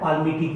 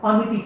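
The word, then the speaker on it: palmitic: कहीं कहीं आप कोई बोलता है पाल्मिटिक acid, no L silent रहता है, पामीटिक एसिड।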